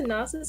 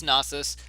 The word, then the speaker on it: Nasus: and the nasis a nasus I pronounced a nasus but that might be wrong uh it's nasus um you can uh